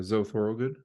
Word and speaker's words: Thorogood: Yeah, Zoe Thorogood. I did pronounce that right.